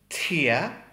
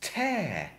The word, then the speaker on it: tear: Then the next one is tear. In a sentence, a tear in my eye. A tear in my eye. But then we have the same word again, but it's pronounced tear. Tear, as in a tear in my clothes.